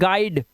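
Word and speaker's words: guide: अब यहां पर देखो, यूआई का एक उच्चारण आई भी होता है। आई कैसे होता है? जैसे यहां पर देखो, इसे पढ़ते हैं गाइड, गाइज और क्वाइट।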